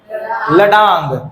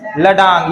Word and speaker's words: ladang: में क्या बोलते हैं, लडांग, क्या बोलते हैं, लडांग या फिर लडैंग, जो बोलना है बोल, स्पेलिंग याद रहना चाहिए, ठीक है, LADANG, ठीक है, लडैंग मलेशिया में।